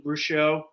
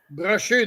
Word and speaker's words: Brochu: I think watching the documentary, the other 15 owners they had bashing Bruchot, if I say his name correctly. Brochu, there you go. Brochu avec un French accent.